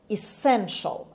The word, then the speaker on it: essential: essential. خب ای رو در این کلمه من خوندم ای تلفظ کردم، پس ا نمیگیم، essential نیست، essential and the stress is on s.